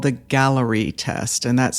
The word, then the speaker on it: Galleri: So, I'm going to talk about one such test called the gallery test and that's spelled g a l l e r i.